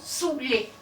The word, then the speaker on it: saouler: En 1548, le dénommé Sébilé déclare, et je cite, « Cette curieuse superstition d'écrire Saoulé attendu que nous prononçons Soulé.